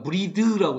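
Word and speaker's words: breathe: 수 없고 그 다음에 브레이드 여기 나왔는데 2.22가 있으니까 브리드라고 읽어야 돼요 신선한 공기를 숨쉴 수도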